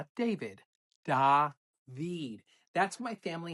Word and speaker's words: David: First day, my teacher says, "Hi, David." I had zero fear, corrected her, and I said, "It's David. It is spelled the same, but pronounced differently."